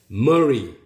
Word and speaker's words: Murray: Murray. 머리라고 발음합니다.